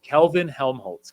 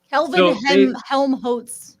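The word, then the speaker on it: Kelvin-Helmholtz: want me just go for it can you pronounce it I can okay it is Kelvin helmholtz clouds Kelvin Helm hes clouds yeah so they're named after two people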